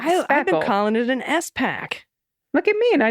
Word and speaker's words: SPAC: it may not be SPAC is generally pronounced as a single word oh look at that like I expected Colin is an S pack look at me and